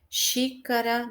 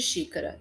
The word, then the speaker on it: xícara: Xícara, então, sempre assim, última, penúltima e antepenúltima, tá? Vamos ver, ó, o exemplo de xícara. Xícara. O xi é mais forte.